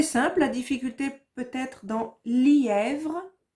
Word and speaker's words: lièvre: C'était simple, la difficulté peut-être dans lièvre. Attention, li, est, vre. 3 syllabes.